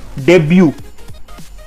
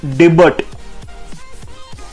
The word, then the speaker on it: debut: So the next word is debut, not debut. Debut or debut or debut. It's not debut, it's debut. It means a person's first appearance or performance in a particular capacity or role.